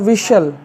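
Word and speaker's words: whistle: इसको कैसल next व डब्लू एच आई एस टी एल ई तो टी के पश्चात एल आ गया तो इसको हम टी साइलेंट कर देंगे तो क्या हो जाएगा विसल सीटी बजाना बी यू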